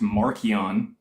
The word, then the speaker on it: Marcion: Mark is more than likely just a play version of the gospel from Marcion, or pronounced Markion when he was alive, or in ancient Rome.